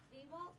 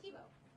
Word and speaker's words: Thibault: Thibault? No, you're close. Thibault.